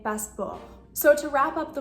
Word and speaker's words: passeport: The same thing with passeport. You're not going to say passeport, you're just saying passeport.